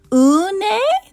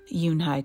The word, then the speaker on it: Unhei: Une? The girl asked, scrunching up her face. Une, some kids chanted. No, Yoonhai corrected. It's spelled Unhei. It's pronounced Yoonhai.